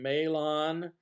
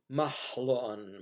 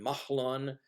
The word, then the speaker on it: Mahlon: Hebrew you find that the H in the middle of the word is not a simple H but a guttural or vocalized H it's not an aspirated